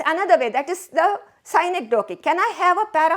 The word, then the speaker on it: synecdoche: Synecdoche. Look at the way I pronounce that word. Synecdoche.